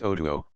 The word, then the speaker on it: Otu: Otu, he told me his name was, pronounced Otuo.